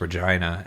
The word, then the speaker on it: Regina: Yeah, it it is actually pronounced Regina. And it took me a really long time to realize that. Oh, it's it's a thousand% Regina.